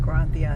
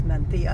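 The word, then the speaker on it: Mencía: Oh I'm saying granthia and it's menthia.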